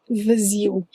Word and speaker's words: vazio: But this is a special one actually, because the ziu has 3 syllables. The, zi, u. You should watch out for this because it is possible to have a syllable made out of 1 letter only. This means the queen is in Z, so the correct pronunciation is viziu, viziu.